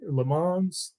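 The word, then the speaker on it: Lammons: opening kickoff and uh Chris LeMans am I pronouncing that right Herbie LeMans lemons Le Mans spelled lamons pronounced Le Mans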